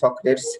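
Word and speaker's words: Socrates: ঠিক আছে, এই কোটেশনটা তোমরা সবাই মনে রাখতে পারো, এরা আবদুল্লাহের বইতেই না, সক্রেটস বা সক্রেটিস যেটাই উচ্চারণ করো সমস্যা নাই।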